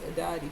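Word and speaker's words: Aditi: Mother of the endless universe, a deity, pronounced a deity, is a primordial Hindu goddess who appears often in the Vedas.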